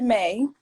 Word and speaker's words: Maeii: apparel store um to may many people don't know how to pronounce it but it's pronounced may like the month i got that name